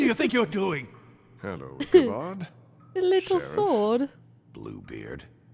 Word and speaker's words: Ichabod: Ichabod, that's how you say it.